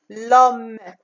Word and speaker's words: homme: On ne dit pas l'homme. On dit l'homme. La lettre muette ici, c'est H et E.